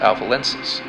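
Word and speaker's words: Alpha Lyncis: Gemini's brightest star is pronounced Polyleptus, and Lynx's brightest star is pronounced Alpha Lensis.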